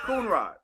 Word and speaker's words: Coonrod: Because I didn't know if I was saying it wrong. No, you're saying Coonrod.